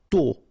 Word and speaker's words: tôt: Tôt. Okay, final T not pronounced, and then this O accent circonflexe is a bit stronger than normally, so tôt, tôt, tôt.